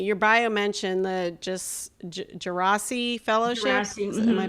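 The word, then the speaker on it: Djerassi: interesting to me your bio mentioned the just gerasi Fellowship am I pronouncing that right yeah yeah and it just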